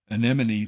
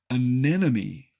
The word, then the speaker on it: anemone: how to say anemon think of it as any money but with the accent on the second syllable and you'll get